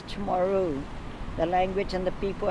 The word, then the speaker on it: Chamorro: No, sir, it's not Chamorran, it's Chamorro.